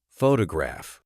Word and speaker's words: photograph: For instance, in the word photograph, the stress is on the first syllable, photograph.